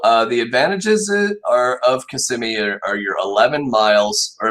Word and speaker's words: Kissimmee: all right we are going to start with kissimmee and yes that is how you pronounce that it's not kisaimai or kiss kiss kissimmee or because it's kissing me so um advantages of kissimmee are you could also see you could say